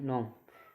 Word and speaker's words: gnome: Resign, RESIGN resign, resign जिसमें जी एन से पहले जी आ गया है वो साइलेंट है। जैसे GNOME नोम, इसमें क्या एन से पहले भी आ जाए जी तो उसमें नो, ठीक है।